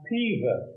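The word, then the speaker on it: Peover: Well, in Cheshire, it's pronounced Pever. Oh, Pever.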